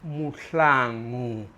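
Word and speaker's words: Mahlangu: His last name is pronounced Mlang.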